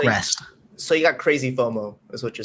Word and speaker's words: FOMO: It's FOMO.